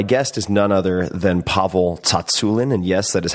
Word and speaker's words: Tsatsouline: Beyond and my guest is none other than pavle Tulin and yes that is how you say it